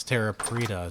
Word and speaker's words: Terra Preta: Apparently that's the right way to say it. It's Terra Preta, so cool.